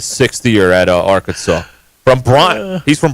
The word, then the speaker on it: Bryant: I'm like, you guys don't pronounce the T.